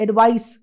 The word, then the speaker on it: advice: एक वर्ड है जहां पे हम सी का इस्तेमाल करते हैं, इसको हम कहते हैं एडवाइस. एस S means in terms of pronunciation, and the other one is advise, Z in terms of pronunciation.